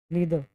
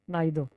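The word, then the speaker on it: neither: दो में से कोई नहीं नीदर कोई नहीं ठीक है नीदर या नाइदर बट बेटर to pronounce it नीदर ठीक है कि मेरा दो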